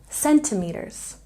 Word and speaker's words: centimeters: We stress the first syllable in centimeters, centimeters.